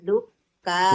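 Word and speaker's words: الدكان: ingat dal Ilal dukkani. bukan. Dal itu juga termasuk huruf syamsiyah ya, ada tasdidnya. Tasdid.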